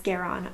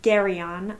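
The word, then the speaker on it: Garion: want to say since i'm used to thinking about his name as garron versus gary on um but i'm gonna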